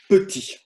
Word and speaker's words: petit: Par exemple, regardez bien, si j'écris petit, tout petit, petit, petit. Vous voyez, on n'entend pas le son T, le dernier.